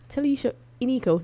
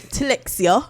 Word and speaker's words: Telixia Inico: So TELIXIA INICO, not TELIXIA. No, not as TELIXIA. I firstly pronounced it.